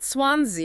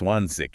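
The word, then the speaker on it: zwanzig: So it's not swansi, it's swans. Precisely. It's swansic. It's softer, airier.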